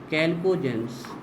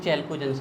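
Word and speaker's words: chalcogens: चलिए तो फोर्थ डालिए, कैल्कोजेंस या चैल्कोजेंस, प्रोनाउंसिएशन आपका बच्चों जो आपको बोल रहा हूँ, कैल्कोजेंस। वैसे होता कैल्कोजेंस है, लेकिन इंग्लिश वाले अधिकतर लोग चैल्कोजेंस बोलते हैं, कैल्कोजेंस है ना।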